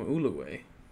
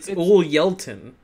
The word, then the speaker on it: Ulyeltin: You guys keep calling him Uluway.